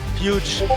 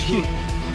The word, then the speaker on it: Hughes: Oh, Patrick, the winner of the race, his surname, you don't pronounce the G or the H? Huge. Yeah, It's Hughes. It's huge. Hughes. Hughes? Hughes.